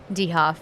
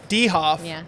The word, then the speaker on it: DeHoff: Dehoff. Dehoff. Uh, it's sort of like a ye-hoff.